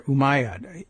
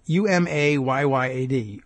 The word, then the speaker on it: Umayyad: The Umayyad, good pronunciation, challenge there, Umayyad, Umayyad, Umayyad dynasty, which English people would say dynasty,